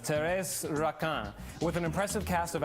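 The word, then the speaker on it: Thérèse Raquin: production of Taurus rockin it looks like Therese Raquin but you know it's pronounced Terrace rockin with an impressive cast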